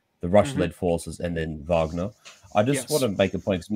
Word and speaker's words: Wagner: we see a w and we think oh wagonal but no like the way it's actually pronounced is vagina and I dare say just